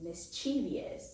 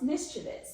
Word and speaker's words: mischievous: that all this time I've been pronouncing mischievous incorrectly by saying mischievous, and it's actually pronounced mischievous. So now I'm trying to train myself to always say mischievous.